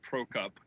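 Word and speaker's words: Prokop: mistake for me since my last name is Pro Cup Kop my ancestors hail from the Czech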